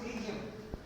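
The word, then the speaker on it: pterygium: P silent है, पी के doctor ने स्पेलिंग लिखे, पी खाई गया, उसने ट्रीजियम लिखो।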